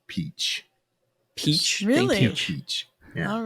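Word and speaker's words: Hachette: approach by the way Google says this is pronounced peach peach peach all right but it's interesting to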